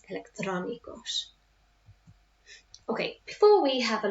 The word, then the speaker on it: electrónicos: Electrónicos. And that's where I put my emphasis. Electrónicos.